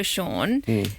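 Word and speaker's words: Shaughn: Um, our electrician is also Sean. He is spelled S H A U G H N. S H A U G H N like worn. Like Vaughn.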